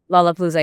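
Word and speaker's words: Lollapalooza: I hope that I've pronounced that that that right. Is it Lola Palooa? Lola Palooa.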